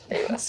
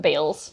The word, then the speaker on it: Bayles: last name so yeah it's bis not Bales so we've already gotten